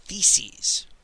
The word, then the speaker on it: theses: the subject of themes and theses rhymes with feces if you want to